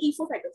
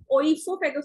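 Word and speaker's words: oesophagus: अन्न प्रणाली या ईसोफेगस, ओइसोफेगस भी बोल देते हैं कुछ लोग। ई से स्पेलिंग शुरू हो तो भी ठीक है, ओ से हो तो भी ठीक है, कोई टेंशन वाली बात नहीं है।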